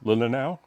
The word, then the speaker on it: Leelanau: Leelanau Peninsula, is that how you pronounce it? Do you know? Yeah, it's Leelanau.